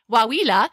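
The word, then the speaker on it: Coahuila: this other State uh waa it's spelled Co a h u i l a so yes the Mexican states of Chihuahua Durango and waa it is it is actually waa it is actually the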